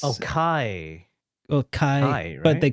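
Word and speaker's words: chi: that like Union Union key cuz the the cross is actually it's pronounced key because it's oh okay it's the the uh the Greek alphabet yeah yeah it's oh Kai well Kai but they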